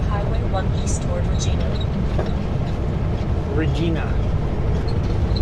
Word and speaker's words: Regina: Regina what the garment said as Canadians pronounce Regina.